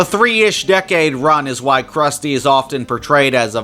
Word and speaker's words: Krusty: Those types of Krusty's jokes are a product of his inspiration and not just an opportunity to satirize media standards and trends of prior decades. And Krusty rhymes with Rusty, and pies also have